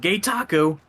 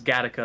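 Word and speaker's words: Gattaca: her getting aggravated because instead of gataka or gataka I said Gayo let's go and she's like no it's gataka I'm like nope Gayo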